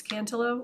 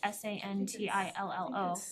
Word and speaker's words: Santillo: then I would make a motion to appoint Christian Santillo to our communication advisory committee. Second, Thank you. And just, I think for the record, it's Cantillo, or is it Santillo?